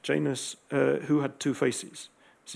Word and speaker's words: Janus: This is the Roman deity Janus, or you may pronounce Janus in different ways. In English, it's Janus, who had two faces.